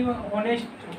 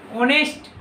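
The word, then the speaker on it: honest: इसे actually होनेस्ट होगा, यहाँ पे ई होगा। इसे होनेस्ट नहीं पढ़ते, ऑनेस्ट।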